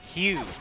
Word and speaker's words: Hugh: Hugh. Like Hugh Jackman.